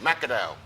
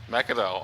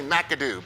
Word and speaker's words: McAdow: McAdow. McAdow. Okay, Yes. I like that. There you go. I am so tempted to say McAdoo, but nah, it's McAdow.